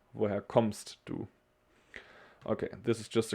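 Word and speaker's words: kommst: special to pronounce but comsto we have two m's and this is just like a also a strong m like comst we don't say communist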